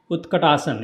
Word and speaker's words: Utkatasana: So Sun Salutation B starts with the Utkatasana. You can say chair pose. So this is the chair pose, pronounced as a Utta. Again, tongue between the teeth. So not ut, not ta. Utkatasana.